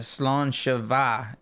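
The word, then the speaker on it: sláinte mhaith: guys I'm just like yes launcher is literally Health yes launcher will be good health but it's pronounced uh slawn Shava maybe you guys need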